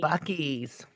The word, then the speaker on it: Buc-ee's: Does it rhyme with schmuckies? Yes, it does. Yes. We're getting a yay! Buc-ee's.